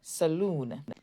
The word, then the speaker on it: saloon: And in saloon, the double O says oo, saloon. Vowels are quite complex, so